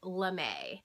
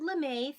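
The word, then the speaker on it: lamé: example of a knit l'm a long e LM a okay so how they make lamay is this they encase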